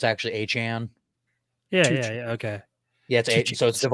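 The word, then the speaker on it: Achane: it's a chain oh everyone was calling him Devon a chain but it's actually aan yeah yeah okay yeah so it's uh so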